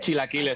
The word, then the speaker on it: chilaquiles: I'd Chilaquiles.